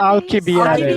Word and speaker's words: Alcibiades: Alcibiades. That's how you pronounce Ali.